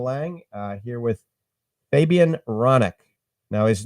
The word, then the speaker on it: Hronec: uh here with Fabian ronic now his name is actually so every time I look at it I'm thinking ironic but the H is silent and once again he's